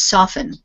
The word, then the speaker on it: soften: say this word soften we have a silent T in the word we do pronounce the